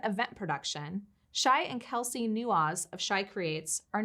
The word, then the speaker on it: Newaz: Newaz, Right.